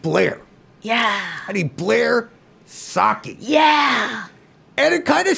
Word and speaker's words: Socci: Dr yeah gorgeous drink that's why I say saki like the drink but no one can get it correct because I think what's